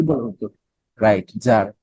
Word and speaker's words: Tsar: রাশিয়ার প্রধানকে জার। কি বলা হতো? Right, jar. বানানটা হচ্ছে TSAR, জার।